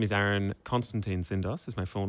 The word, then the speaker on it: Tsindos: name is aaron constantine syndos is my full name act which spells act weirdly enough wow um even though the tea is silent um but i was